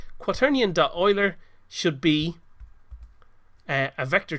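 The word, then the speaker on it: Euler: rotation will be equal to a quan do Oiler and what Oiler does it looks like it might be pronounced uler but it's actually pronounced Oiler and what this does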